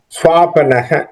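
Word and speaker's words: स्वापनः: Swapanaha, swapna means swapanaha. That's what, how the Vyasa has written the word here. Swapnaha is swapanaha.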